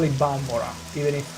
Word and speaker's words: Balmora: We're gonna go back to Balmora. Balmora. I refuse to call it Balmora, even if it's the allegedly right pronunciation, because Vivek pronounces it Balmora in the Morrowind expansion of the Elder Scrolls Online.